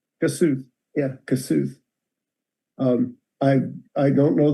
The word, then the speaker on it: Kossuth: Yeah, we pronounce it Kossuth. Kossuth.